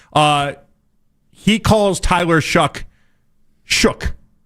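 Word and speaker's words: Shough: It's Tyler Shook. And I In fairness, this is on Tyler Shook. I I don't know how he ever came up with that how that's how you say his name, but we've known that forever.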